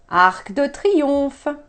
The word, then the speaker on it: Arc de Triomphe: ACK the pre-offer ACK the C is pronounced sometimes we don't pronounce ending consonants but in short words like that we tend to AK